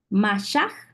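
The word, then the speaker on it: mashaj: h a j ma y se pronuncia con la J al final m a s h a j masah es en hebreo y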